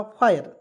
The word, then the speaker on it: fire: प्रकार मैंने इसको पढ़ा फायर। FIRE पढ़ेंगे दोस्तों फायर। क्यों? क्योंकि देखिए एफ से फा लिखेंगे और IRE आया अंतिम में, इसका उच्चारण आयर के रूप में जोड़ेंगे, आयर, तो हो जाएगा फायर।